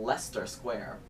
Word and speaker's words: Leicester Square: Sunday I walked from Leicester Square like Chester is how I say it but it obviously wrong we only pronounce like four letters so Leicester Square all